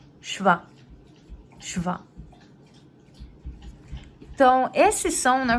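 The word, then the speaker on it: שווא: Então, aqui, ó, muita gente vai pronunciar como Sheva, mas não é Sheva, é Shva.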